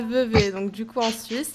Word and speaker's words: Vevey: Oui, ça se prononce bien Vevey, non pas Vevey, s'il vous plaît, ou Vevey, ou je ne sais pas quelle autre prononciation.